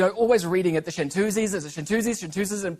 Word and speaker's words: Chantoozies: i found out that pronouncing your name incorrect is actually how the group name came about yes that's correct yes yeah it's the french for female singer female singer shanters but i think it